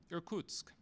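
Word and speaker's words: Irkutsk: was called back to erkuk erkutsk is how I guess I might pronounce it in Siberia to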